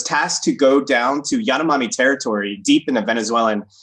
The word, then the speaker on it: Yanomami: because first of all, the pronunciation, and correct me if I'm wrong, it's Yanomami or Mana, right? So you could, it's different. So in the International Phonetic System, the Yanomami, but the I is usually cross out I or